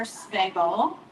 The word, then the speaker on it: Spagel: My name is Amber Spagel, so I know the last name's intimidating. It rhymes with bagel. That's the best way to remember.